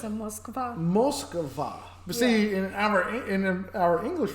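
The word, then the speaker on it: Москва: I said, Mockba. What is Mockba? And then you had to correct me and say, it's a Moskva. Moskva.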